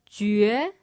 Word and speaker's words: jue: que que que que Another syllable with this rhyme is jue That's a J, a U, and an E.